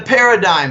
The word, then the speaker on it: paradigm: big moves in the paradigm shift no paradigms not just a cool world with cool word with a silent G it means that the